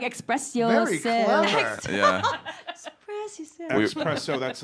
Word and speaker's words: Xpresso: Is it espresso or do you guys like it pronounced espresso? No, so it's Xpresso.